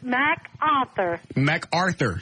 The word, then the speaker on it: MacArthur: macarthur north macau mcarthur say it mac author macarthur arthur arthur saying that